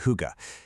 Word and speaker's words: hygge: You pronounce it hygge.